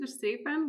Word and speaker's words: Verstrepen: So I'm Verstrepen, was a good pronunciation of my last name.